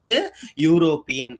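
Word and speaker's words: European: இட் is pronounced as யூரோப்பியன். அப்ப இந்த இடத்துல என்ன சொல்ல வருது? யூரோப்பியன். யூ தான் வருது. யூங்கிறது என்னது? யூ எழுத்து. சரிங்களா?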